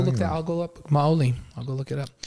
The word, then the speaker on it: Maoli: Molly. Molly? Maoli. Oh, Maoli. How do you spell it?